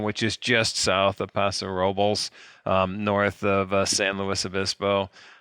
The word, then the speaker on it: Paso Robles: I looked it up the other day because I think they actually say Paso Robles is how they say it.